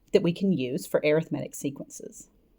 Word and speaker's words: arithmetic: number, these are called arithmetic sequences. Right? I know that looks like the word arithmetic, but in this case, the way this is used, it's pronounced arithmetic sequences.